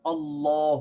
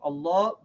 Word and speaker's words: Allah: first rule is that when we pronounce the name of Allah we pronounced alarm on it with their medal on the lamb as heavy mean who say law